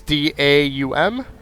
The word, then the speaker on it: Daum: NA and EU version is Dom, I think you pronounce it, Games Europe. It's DAUM, and they so far have